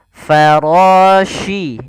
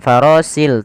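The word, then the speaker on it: الفراش: Farashi. Ini hati-hati, di sini huruf shin, bukan huruf si. Bukan farasil, tapi farashi.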